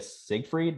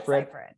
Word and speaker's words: Seyfried: Amanda Siegfried, right? Is that how you pronounce her last name? I think. Seyfried. I think.